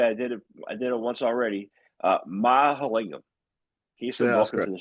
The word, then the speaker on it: Mahalingam: I'm going to pronounce this correctly. I did it once already. Mahalingam.